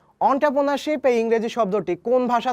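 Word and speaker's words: entrepreneurship: করে থাকি বা আমি ছোটকালে উচ্চারণ করতাম যে এন্টারপ্রেনারশিপ ওকে এটার উচ্চারণ কিন্তু অন্ট্রপ্রেনারশিপ তো ইংরেজি শব্দ অন্ট্রপ্রেনারশিপের বাংলা পরিভাষা হচ্ছে উদ্যোগ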